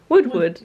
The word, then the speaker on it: Woodward: Woodward. It's Woodward, but it's spelled Woodward. with a Y.